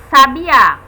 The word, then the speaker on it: sabiá: recai a sílaba tônica vamos aqui ver o exemplo sábia temos a sílaba tônica sa e é uma palavra só tem um significado totalmente apesar de serem escritas da mesma forma que sabiá vejam diferente sábia Sabiá nós sabemos facilmente a